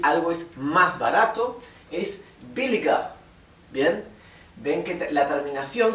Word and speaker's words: billiger: escribí billiger, sin embargo recuerden que la ER final, al final de una palabra, cuando termina en ER, se pronuncia más bien como una A, ¿sí? Y la R es casi imperceptible. Así que esto, en vez de pronunciarse billiger, sería billiger. ¿Bien?